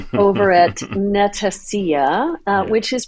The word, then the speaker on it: Netacea: as Andy 2 over at Netacia uh which is pronounced Netacia like Panacea.